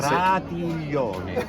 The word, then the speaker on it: Pratiglione: Try to say Pratiglione instead of Pratiglione. For you it's not easy. Give me. It's not easy. Pratiglione. Pratiglione. Go. No G. No hard G.